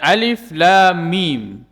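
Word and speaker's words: الم: Ini disebut dengan huruf muqatta'ah. Huruf yang pengucapannya atau bacanya diucapkan secara tersendiri. Ya, terputus-putus, terpotong-potong. Kita sebut nama huruf tersebut. Alif, Lam, kemudian Mim. Walaupun tulisannya bersambungan, akan tetapi cara membacanya menyebutkan nama huruf itu satu persatu.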